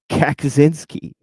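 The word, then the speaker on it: Kaczynski: And also Kakazinski. I say it like that because that's how it is spelled, you know.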